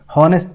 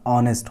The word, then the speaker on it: honest: बात करें अगर, तो जैसे लिखा हुआ है HONEST, जिसको बहुत सारे लोग गलत प्रोनाउंस कर देते हैं, हॉनेस्ट पढ़ लेते हैं, ठीक है, जबकि इसके यहाँ पे क्या होगा, ऑनेस्ट होगा।